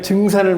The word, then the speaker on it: 증산: 정산이 증산을 정산. 증산. 네. 정산을 안 합니다. 말하자면 경상도식 발음. 하여튼 경상도 발음이 그래요.